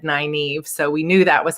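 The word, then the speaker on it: Nynaeve: oh i saw somebody asked how do you pronounce her name so her name is naive elizabeth and her name comes from the wheel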